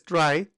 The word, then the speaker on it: trie: A try pronounced as try, also known as a prefix tree.